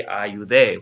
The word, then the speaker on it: ayudé: I helped would be ayudé with an accent on the E.